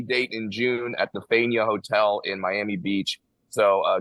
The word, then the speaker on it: Faena: How do you pronounce it? Fania? Faena? I always heard Faena. Well, he's saying Dania and it's Faena, and those are two very different places.